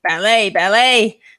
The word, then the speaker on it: ballet: And I'm like, no, ballet, like ballet. I'm like, no, please, the T is silent.